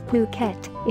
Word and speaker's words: Phuket: worldwide the beautiful tropical island of Phuket fortunately pronounced as Phuket is frequently and justifiably